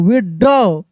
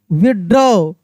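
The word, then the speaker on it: withdraw: देखिए यहां पे ज एस टी आर ए डब्ल्यू स्ट्रॉ डब्ल्यू आई टी एच डी आर ए डब्ल्यू विड्र विड्र पी ए डब्ल्यू प टी एच ए डब्ल्यू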